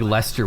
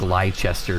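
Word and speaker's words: Leicester: way out there like I didn't know like how British things were pronounced so it's like I thought like Lester was like liester for the longest time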